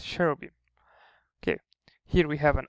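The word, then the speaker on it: Cherubim: then Y and M however if you remember from the beta rule if it's a if it's a proper noun it could be pronounced as a b simply because it's a proper noun it's the name of the name of some um some angels CH cherro beam in this case cherro beam okay here we have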